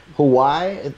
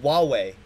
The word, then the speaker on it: Huawei: It's just Huawei. Huawei. Okay. Yep, Huawei, but with like H's everywhere.